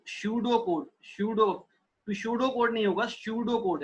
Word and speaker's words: pseudocode: Here P is silent. It is called like pseudocode.